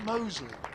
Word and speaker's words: Mousley: and in walks mousley do you pronounce him Mosley Mosley yeah as in as in the district half a mile of the road yes Mosley Rugby Club